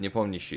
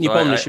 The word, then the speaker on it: Nepomniachtchi: Like I always pronounce it Nepomniachtchi. Is that okay? Jan's, Nepomniachtchi. Yeah. Yeah. Okay. So Nepomniachtchi, because yeah, please.